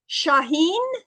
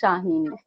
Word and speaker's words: Shaheen: It's Shaheen. Yes, exactly. Everyone says Shaheen, Shaheen, but you pronounce perfect Shaheen.